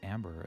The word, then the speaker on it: Amber: Anyway, Amber is not a German name. We would just pronounce her as Amber as well.